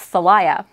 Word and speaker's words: Thalia: So I looked it up, and two different pronunciations said it's actually pronounced Thalia. And that's how I pronounce it now. Initially, I was like, I don't know if I like that pronunciation. I might just call her Talia anyway, because it's cuter.